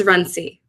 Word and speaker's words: Runcie: And I'm going to try to, Liana, is it Runcie? How do you say your last name? It's Runcie.